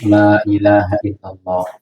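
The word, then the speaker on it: لا إله إلا الله: ditanyakan oleh masyarakat, loh, bacanya la ilaha illallahnya itu panjang atau pendek? Baca la ilaha illallahnya itu, la-nya itu la ilaha illallah atau la ilaha illallah. La-nya panjang.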